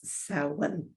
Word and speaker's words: Samhain: out as samhain but of course it's gaelic so it's so one it's pronounced that one